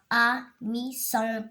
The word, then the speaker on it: amusante: La maîtresse raconte une histoire amusante. Amusante. Amusante. Toujours S entre deux voyelles.